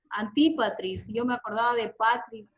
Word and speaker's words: Antipatris: La pronunciación, Antipatris.